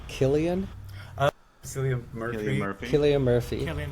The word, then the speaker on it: Cillian: How about, I always want to say Cillian, but I think he pronounces it Killian.